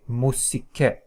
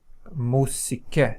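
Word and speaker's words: μουσική: Okay, musike, musike. So this is pronounced as u, musike, u, musike. Okay, so this finishes the content of the first lecture.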